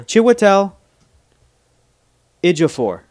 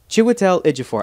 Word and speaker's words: Chiwetel Ejiofor: We confuse our pronounce chairs with our shares. Shares in the chair. Yeah. Chiwetel Ejiofor. Yeah. Chiwetel Ejiofor. I love Chiwetel Ejiofor.